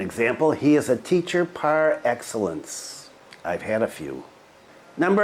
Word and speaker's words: par excellence: 10 prior excellence part Excellence is a French word not pronounced in the in the American way that I'm pronouncing it and it means